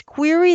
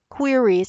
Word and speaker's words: query: in in xs2 is query the computer queries how you say it q-u-e-r-y which means question and in british english they actually use that term query for a question and we asked the